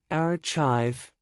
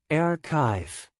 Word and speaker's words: archive: wrong mischievous correct mischievous archive wrong archive with ch sound correct archive Deb wrong debt with beat